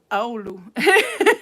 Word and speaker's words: Oulu: And then you see how to pronounce it in Finnish, and it says Oulu.